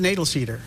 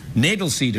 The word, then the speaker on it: Knoedelseder: I pronounce it Knoedelseder. Knoedelseder.